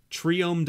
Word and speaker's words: triome: want to pronounce it i go a try because it's tri-color so try is the thing that you say when it's you know three of something triome doesn't sound right to me i don't know